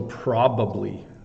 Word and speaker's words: probably: many syllables right so probably three syllables um and then I Think It's tricky to do the the bubbly bubbly probably and then in English we say it really fast right um like I could say um today I'm probably going to have a nap so probably becomes probably like I say it way too quickly the reason I have